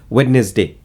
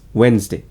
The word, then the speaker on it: Wednesday: We usually say this as witness day. No, it's Wednesday.